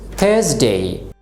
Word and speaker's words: Thursday: The next day is Thursday. এখানে সেই একই নিয়ম লক্ষ্য করুন, আর এর পরে কি আছে কনসোনেন্ট, এই জন্য আমরা আর কে উচ্চারণ করব না।